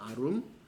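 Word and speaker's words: ערום: 아룸이라고 읽어요. 아룸.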